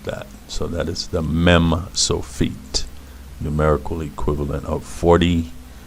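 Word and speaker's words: מם סופית: Anyway, that's the mem sofit. And because it is a mem, just like the regular mem, it has a numerical equivalent of 40, just like the mem. And the sound is meh, meh.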